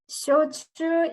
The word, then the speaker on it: Shochu: Of course, you have, excuse my pronunciation, soshu, is it? Or shosu? Soshu. Yeah, which is like a distilled sake. Is that correct? Shochu is spirits.